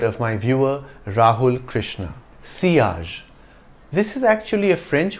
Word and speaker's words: sillage: perfumers you could say sillage but it's better to follow the French pronunciation the Double L is pronounced like y the word means wake